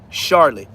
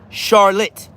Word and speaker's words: Charlotte: Charlotte. You way off. So you you can't even say you was close. Her name is spelled like Charlotte Hornets. Charlotte. Like Charlotte's Web.